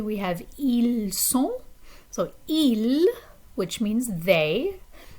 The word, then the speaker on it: ils: So ils, which means they, that has a silent S at the end.